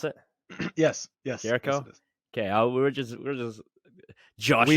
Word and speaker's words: Jericho: Is that how you pronounce it? Yes. Jericho.